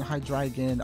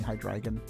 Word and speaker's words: Hydreigon: a Japanese name, but since I found out it was based on the 3 German numbers, I've been saying Hydreigon.